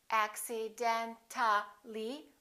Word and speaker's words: accidentally: When we add accidentally, we don't pronounce the A, we say accidentally.